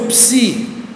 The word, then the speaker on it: psi: letra depois temos o psi outra letra dupla maiúsculo minúsculo em grego sua forma em português e como se pronuncia PS como em psicologia Aí temos né psicologia